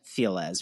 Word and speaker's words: Feliz: It's not Los Feliz, but, you know, his name wasn't Feliz because that's not how it's pronounced. It's Feliz, people. Oh, wait, that's what Los Feliz is? It's supposed to be like Feliz? Yeah, it's spelled Feliz, like Feliz Navidad, but they all pronounce it as Los Feliz.